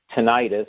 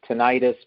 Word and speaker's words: tinnitus: I pronounce it tinnitus, but some people pronounce it tinnitus.